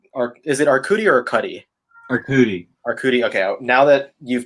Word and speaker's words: Arcudi: Arcudi.